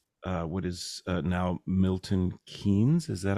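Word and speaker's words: Milton Keynes: Did it start at the um uh what is uh now Milton Kees? Is that how you pronounce it? Milton Kees.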